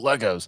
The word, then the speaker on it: Lego: video games well I I always said I wanted Legos or Lego is the proper way to say it but uh you know